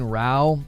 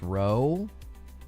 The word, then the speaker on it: row: It's pronounced row. No, it's not. What? I've always heard it pronounced row. When row means a fight, noisy argument or quarrel, it is pronounced to rhyme with cow, how and now.